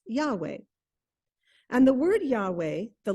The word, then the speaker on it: Yahweh: name for God is rendered by the initials y h w h and which today we usually pronounce Yahweh and the word Yahweh